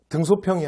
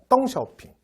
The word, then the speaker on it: 덩샤오핑: 예를 들어 마우저 또 등소평이 아니라 덩샤오핑 이렇게 발음 해줘요 그 다음에 뭐 장개석